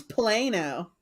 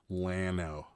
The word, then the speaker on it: Llano: theirs theirs are good Llano like Lano but you put okay Llano okay Leno Llano I thought it was Plano whatever the second L is silent Llano okay oh hamburger